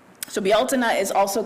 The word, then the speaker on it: Bealtaine: It is our way of celebrating the pagan holiday of, it's spelled like it's pronounced Beltane, but in the Celtic language it's pronounced Bealtaine. So Bealtaine is also called May Day.